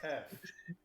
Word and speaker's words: Yfe: I might have been confused at first, but the Y is silent. Uh-huh. Mm-hmm. It is Uh-huh. pronounced F.